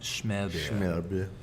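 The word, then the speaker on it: smørrebrød: It's in Denmark, and the whole country eats Smerbe. It's pronounced like that, Smerbe.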